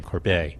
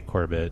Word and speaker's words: Corbet: all of course on the pronunciation of your name corbeil cuz everyone say Corbett and all that that's so